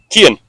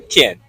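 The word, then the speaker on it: Cian: Kian. Kian. Yeah. Kian. Is it correct pronunciation? Kian. Kian. Yeah. Kian. It's the Irish pronunciation would be Kian. Yeah. C-I-A-N.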